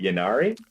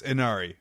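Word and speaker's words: Ynnari: I don't know if it's a new faction, but the new Eldar kind of, is it Yanari? It's Inari. The Y's are pronounced as I's.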